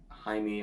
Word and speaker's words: Jaime: our main guy playing Jaime, I believe is how you pronounce it. I don't remember how to pronounce his name because people just keep mispronouncing his name as Jamie in the movies.